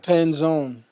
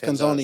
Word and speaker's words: Penzone: Oh, Penzon. Penzon. Yes. Penzone. Yeah, I pronounced that wrong.